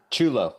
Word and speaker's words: Ciullo: I hope I made your pronunciation of your surname correctly. Ciullo.